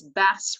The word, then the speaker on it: bass: bass in this sentence bass rhymes with grass right so I would say grass but you grass right bass and grass that rhymes base and case for